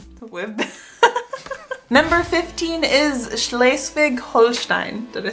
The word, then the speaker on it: Schleswig-Holstein: Number 15 is Schleswig-Holstein.